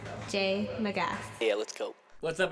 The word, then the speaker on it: J. Magas: It's pronounced J. Magas.